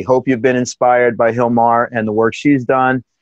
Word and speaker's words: Gilmar: tuning in thanks for giving us this time Hilmar and remember guys when you're searching it's Gilmar GI LM AR Smith but it's pronounced Nomar and you do that all over